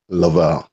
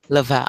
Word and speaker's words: LEVALè: LEVALè, is that how I'm pronouncing your name? Yes, that's correct. Correct me. Okay. Let me hear you say it. LEVALè. LEVALè.